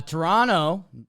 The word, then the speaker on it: Toronto: the next one uh Toronto don't pronounce that second T you've told me uh again they came